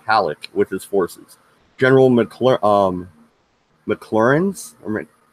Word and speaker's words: McClernand: General McClernand's, how do you say that fucking name? That's not McClellan. McClernand.